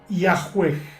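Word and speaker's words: Yahweh: Los eruditos modernos conjeturan que originalmente se pronunciaba Yahweeg, aunque en estos tiempos, en las traducciones modernas de la Biblia, por ejemplo, se escribe Yahvé.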